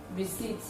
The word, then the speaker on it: receipt: We should note that pa is silent in the following words. That is, when you see the sound in some words, some of the words that we have outlined here, it is voiceless. It does not reflect in the pronunciation.